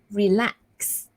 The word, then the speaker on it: relaxed: an ed ending, so relaxed, right? Relax. So again, the sound there, the end there, is actually a s sound, s sound. So you need to end it with a t sound, relaxed.